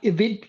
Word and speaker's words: Edith: Edith, that's how you pronounce it.